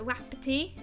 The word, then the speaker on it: Wapiti: But anyway, he says, Samson Wapiti is pronounced as Wapiti.